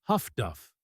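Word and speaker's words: HF/DF: Between February and May 1943, this technology gap cost donuts dozens of the Americans coupled this radar advantage with highfrequency direction finding HFDF pronounced Huffduff by crews.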